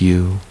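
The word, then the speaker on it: 鱼: Fish pronounced you. You was homophonous with the word for surplus and symbolized abundance.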